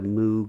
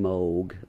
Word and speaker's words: Moog: said I don't know what a moo is and which is the wrong pronunciation Moog I mean I've heard